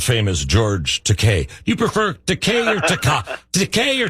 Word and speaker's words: Takei: the great world famous george takei you prefer decay decay or takai so let's let's let's try this okay do